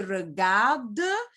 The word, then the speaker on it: regardent: Les petites filles regardent, because it's plural, regardent gonna end by ENT, but we don't pronounce that ENT, it's silent. So we're gonna say, les petites filles regardent la télévision.